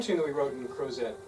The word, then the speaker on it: Crozet: Did you say Crozet? See, I'm from Idaho. Well, I grew up in Utah, Crozet, and we pronounce everything wrong on purpose in Utah. So out here, they're still pronouncing things correctly, that's encouraging.